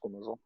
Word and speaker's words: squamosal: Is that how you pronounce that? Squamosal?